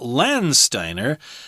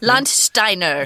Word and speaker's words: Landsteiner: 1901 when Austrian researcher Karl Landsteiner or maybe lunch Steiner lunch Steiner that's probably how you say it auf deutsch yes and his associates